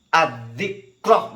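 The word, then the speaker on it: الذكر: Nah itu masuk kepada yang af'alah, maka bacanya yukhfiyani adzikroh. Makanya jangan zikr-zikr begitu ya. Tidak bisa dibela kalau ini kesalahannya ya. Yukhfiyani misalnya imam dan makmum samar gitu. Terus zikrin jadi apa?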